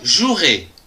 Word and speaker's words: jouerai: du verbe jouer je jouerai attention ici il y a un e qu'on ne prononce pas demain je jouerai demain